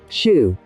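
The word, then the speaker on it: xu: The 6 sounds are shu, pronounced like shish, with a deep sigh,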